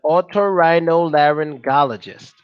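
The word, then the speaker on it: otorhinolaryngologist: just put or the expert off to get auto rhino laryngologist auto rhino there and get these mother oh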